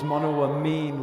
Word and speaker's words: monoamine: out to me that it's monoamine, not monoamine. Okay? So the proper pronunciation is monoamine, like amino acid.